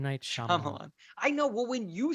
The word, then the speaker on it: Shyamalan: Night Shyamalan's name wrong.